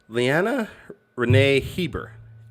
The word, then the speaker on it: Leanna Renee Hieber: though i'm looking at the questionnaire that she phonetically spelled it out for me lyanna renee heber is our amazing guest today oh she gave